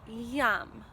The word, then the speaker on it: yam: It sounds like that, yam. It's spelled Y-A-M, yam.